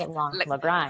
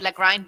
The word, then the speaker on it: Lagrein: We have the Lagrein Selezione, which is Lagrein. See, we go back to the German pronunciation, right? The Italians would say Lagrein because that's how it's spelled, but it's actually Lagrein, and it's a Germanic name.